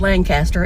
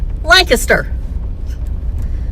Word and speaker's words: Lancaster: We went to Lancaster's bar or you know some people the city in South Carolina is not pronounced Lancaster. It's pronounced Lancaster.